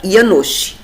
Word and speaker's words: Janosh: é uma pessoa chamada Ianosi ou se escreve Janos.